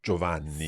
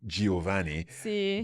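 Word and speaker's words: Giovanni: see see so joani very often you hear people in in English saying oh Giovani but absolutely if if you say Giovani you're going to sound like someone who's got no idea about Italian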